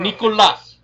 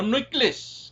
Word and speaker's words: Nikola: Nikola. Nikola. No Nicholas. Nicholas is someone else. It is not me.